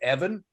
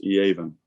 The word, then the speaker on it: Evan: So with regard to the safeties, first of all, the Gibbons kid, does he not pronounce his name Evan? It's Eaven.